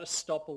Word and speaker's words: estoppel: This is what estoppel really means. It sounds like the word stop, because it means that